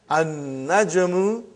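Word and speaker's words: النجم: So how will you pronounce, brother? An-najmu ba'idun. You did not pronounce lam.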